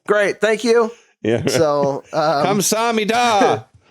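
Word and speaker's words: 감사합니다: So, Kamsahamnida. That's how they say it.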